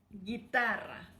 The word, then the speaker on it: guitarra: And then guitarra. Guitarra, that means guitar. Exacto. Oh yeah, so for pronouncing Gui, you have to write G-U-I, and pronouncing gay, you have to write G-U-E instead of G-E.